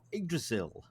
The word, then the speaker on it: Yggdrasil: We have Jeanette and Simon Town of the Roots of Yggdrasil. Have you Welcome, pronounced guys.